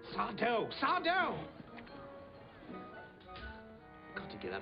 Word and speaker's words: Sardo: on the d sard That's sardo Accent on the D that's sardo no Mister